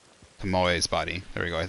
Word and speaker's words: Tomoe: Pomoe. Tomoe's body. There we go. I think I said it better. Tomoe's body. Tomoe's body. Is Tomoe. Tomoe. Yeah, they'd be standing over Tomoe's body instead.